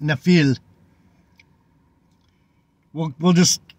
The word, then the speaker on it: Nephilim: the word was pronounced nefil the the m is silent nefil we we'll just call